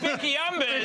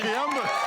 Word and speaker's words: Becky Umbers: The first on debut, her name rhymes with Becky numbers, as in like doing big numbers at breakfast. It's Becky Umbers. Becky Umbers.